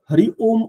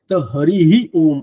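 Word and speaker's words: हरिः ओम: म्हणावा लागतो आधी आणि तो हरी सुद्धा नुसतं हरी ओम असं नाहीये ते हरीही ओम असं आहे म्हणजे तो हरी हा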